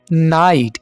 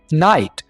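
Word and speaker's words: knit: behave busy मसरूफ होना, नाइट यहां पर के को साइलेंट रखेंगे, नाइट बुनना, नॉक दस्तक देना,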